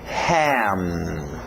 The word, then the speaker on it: ham: Fecha bem esse M no final também, ham. Não é igual ao português, faria ham, esse M iria embora, ok? Nós queremos parar M's, L's, N's, igual o gaúcho fala, né? O normal a gente no Brasil diria go e o L iria embora. Mas nós queremos igual o gaúcho para o inglês, goal, para nesse L, ham, para nesse M, ok?